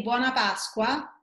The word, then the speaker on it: buona Pasqua: say Happy Passover in Italian you can say buona Pasqua just sweetly Juana it's good happy and ask